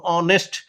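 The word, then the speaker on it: honest: টু হি is blank অনেস্ট ম্যান এইচ এর উচ্চারণ হয় না উজ থাকে এইজন্য এখানে কি হল এটা ভাল সাউন্ড অনেস্ট তাই এখানে কি হল অনেস্ট ম্যান এান অনেস্ট ম্যান।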